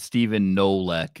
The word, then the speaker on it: Stephen Kolek: And yes, Pat, Stephen Nolek is that's the proper pronunciation of that name.